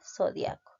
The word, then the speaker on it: zodiaco: Zodiaco. Fútbol y fútbol. Nosotros pronunciamos fútbol, ¿no es cierto?